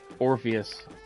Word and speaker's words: Orpheus: I don't trust them trying to release this guy Orpheus. His name rhymes with Morpheus.